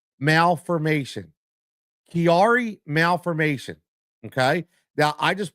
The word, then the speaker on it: Chiari: I had to look up the pronunciation cuz I wasn't sure. It's called Kiari Malfformation. Kiari Malfformation.